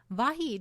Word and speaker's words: Vahid: The Bab grouped years into sets of 19 and called a set a Vahid [should be pronounced Va-Head].